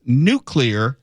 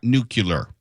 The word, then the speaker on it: nuclear: And it's pronounced nuclear, not nuclear.